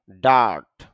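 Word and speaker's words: dirt: ডার্ট এখানে আর এর উচ্চারণটা একটু কম হবে।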